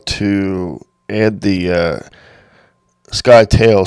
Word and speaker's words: Scytale: how to add the sky tail c plugin to your sdr sharp now it's spelled s c y but we're just going to say sky to so anyway we're going